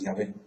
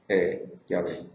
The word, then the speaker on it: Yahvé: dijeron eso, así es, la pronunciación correcta es Yahvé. ¿Por qué? Porque los samaritanos sí escribían en griego y con vocales. Así que ahí se descubrió que es la pronunciación correcta, Yahvé.